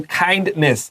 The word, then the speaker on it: kindness: Okay, so kindness. 这位 N-E-S-S. Circle that. It's fa-nis. Short I. It's a schwa. Don't say nes.